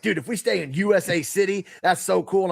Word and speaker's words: Usa: USA So, there is a town I I hope that we're pronouncing it right. it's it's Usa. We looked it up, but it was still funny.